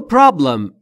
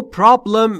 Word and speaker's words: problem: در مورد تلفظ problem دقت بکنید. Problem نیست دوستان. Problem به این دلیل که بین P و R صدایی وجود نداره. ما هم نباید صدای اضافه بکنیم.